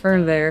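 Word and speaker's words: Fernweh: There's this German word called fern fernv fernv pronounced fernv or something and it's f e r n w e h.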